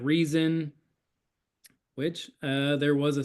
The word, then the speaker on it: RZN: fell into place like oh rzn or pronounce it reason which uh there was